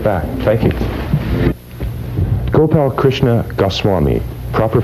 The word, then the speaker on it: Gopalkrishna Goswami: Gopalkrishna Goswami. Proper pronunciation of your name?